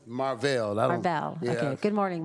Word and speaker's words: Marvel: You pronounced it Marvel, which yes. Good morning. Good morning. Is that how you pronounce it? Say again, please. Is that how you pronounce it? No, it's Marvel.